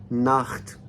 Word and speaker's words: Nacht: तो नाख्त में भी आ के बाद जो है सी एच आया।